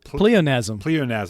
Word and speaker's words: pleonasm: How do you pronounce the name? Pleonasm.